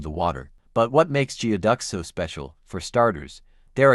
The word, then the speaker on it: geoduck: The geoduck, pronounced geoduck, is a species of giant clam native to the coastal waters of the Pacific Northwest.